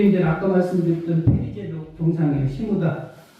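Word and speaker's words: 下田: 시무다. 그 아래 한자에다가 밭전자 쓰는데 발음은 시무다라고 하는데 그 항구에 흑선 모형이 있고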